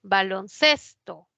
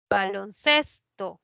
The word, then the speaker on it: baloncesto: en s se tilda baloncesto proviene de dos palabras balón y cesto ninguna bueno balón si lleva tilde pero acá ya no porque cuando forma la nueva palabra la mayor fuerza de voz ya no está en balón está en ces baloncesto baloncesto ces es la que lleva la mayor